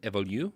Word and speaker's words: évolus: Is it differently pronounced? Did I fuck it up? No, that was right.